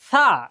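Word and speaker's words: ث: অতএব এই উচ্চারণটা সা, এই সার উচ্চারণটা কখনোই ওস্তাদ ছাড়া আমরা পারবো না। সা, জিহ্বা বের হবে, সা, সা, আমার মুখের দিকে একবার খেয়াল করলেই হয়ে যাবে ইনশাআল্লাহ।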